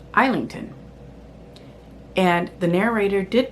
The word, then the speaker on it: Islington: So, if I S L A is Isla, I S L I N G T O N makes sense to be Islington.